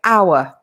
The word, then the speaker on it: hour: a vowel sound obviously it's written with an h but the h is silent so we say our and when we are